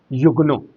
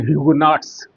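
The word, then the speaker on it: Huguenot: Pronunciation, वो फ्रांसीसी था, तो फ्रेंच प्रोनाउंसिएशन हुआ युगनो। आपको सामान्य पाठ्य पुस्तकों में ह्यूगनॉट्स करके जिक्र किया जाता है, लेकिन वास्तविक या ठीक ठाक उसका उच्चारण हुआ युगनो।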